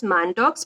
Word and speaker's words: Mantoux: Here we are writing as Mantoux, but pronunciation is Mantoux.